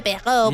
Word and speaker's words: Perrault: se escribe Perrault y se pronuncia Perrault porque es francés.